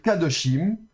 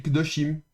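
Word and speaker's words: קדושים: Donc au lieu de dire kadoshim, on va dire, je vais essayer de gommer ça proprement ici. Hop, voilà. On va pas dire kadoshim mais on va dire. Vous voyez ? Beaucoup plus rapide. Kdoshim.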